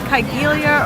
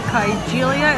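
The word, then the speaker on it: Kigelia: So, this is called I don't know if it's Kyelia or Kaelia. It's like K I think it's spelled K I G E L I A.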